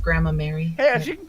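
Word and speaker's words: Gramarye: You're a wonderful Gramir magician. You should be proud of yourself. It's actually... It's pronounced Grandma Mary.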